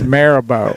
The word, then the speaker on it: Mirabeau: It's it's Mirabeau. Marabou B. Lamar, and it's Bonaparte. Yeah, it is. You're right. I love these pronunciations.